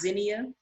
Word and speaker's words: zinnia: i believe is pronounced zinnia yeah right it's spelled the same way but it's pronounced zinnia my name is zania